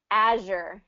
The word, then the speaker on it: azure: draw i okay azure azure is the other one yeah so it has that sound like like in treasure treasure azure oh what's the position